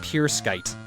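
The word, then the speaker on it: Pruskite: P-R-U-S-K-I-T-E apparently is pronounced Pure Skite.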